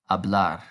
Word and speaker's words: hablar: and as we know the h is silent so to speak is now hablar and do you remember